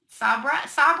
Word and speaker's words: Sabra: Or Sabra, is that how you say it? Yes, that's correct.